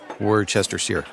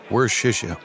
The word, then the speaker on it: Worcestershire: Like easier than pronouncing Worcester. Nope, Worcester. Huh, Worcestershire. Worcestershire.